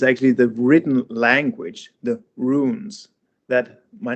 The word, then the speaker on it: Rune: Call me Rune or something like that in foreign uh, language. because it's spelled like RUNE.